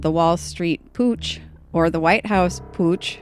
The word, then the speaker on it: Putsch: Putsch. Putsch. Putsch. Where you gotta get some gruff, get some phlegm into it.